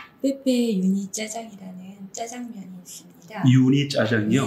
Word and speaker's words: 유니짜장: 네, 그게 원래 육이거든요. 육이 고기 육자고요. 이가 진흙 이자예요. 그래서 원래 그 고기를 진흙처럼 잘게 다졌다라고 해서 그 육이가 유니짜장으로 발음이 된 거죠.